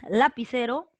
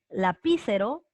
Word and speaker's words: lapicero: también llamadas para occitanas llevan la mayor fuerza de voz en la penúltima sílaba aquí en la segunda posición desde el final hasta el principio y no desde el final entonces en la penúltima por ejemplo el lapicero tú dices lapicero lapicero lapicero o lapicero lapicero entonces